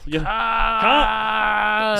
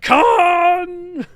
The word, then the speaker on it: Khaan: that they added an extra A in Khaan. See? Yeah, so you're exactly. shouting it a little. Khaan! See, that's like 4 or 5 A's. It's like Khaan.